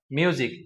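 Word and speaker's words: music: Reading technique এক থেকে আমরা শিখবো এস এর আগে ও পরে ভাওয়েল থাকলে ওহার উচ্চারণ বর্গীয় জ এর মত হবে। যেমন আমরা একটা ওয়ার্ড এখানে খেয়াল করি মিউজিক। এম ইউ এস আই সি। এস একটি বর্ণ যার পূর্বে ভাওয়েল আছে ইউ এবং পরে ভাওল আছে আই। এখানে এস এর উচ্চারণ হয়ে গেল বর্গীয় জ এর মত। অর্থাৎ মিউজিক।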